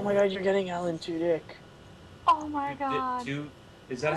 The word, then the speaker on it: Tudyk: Oh my god, you're getting Alan Tudyk. Oh my god. Is that how to pronounce it? Yeah, Alan Tudyk.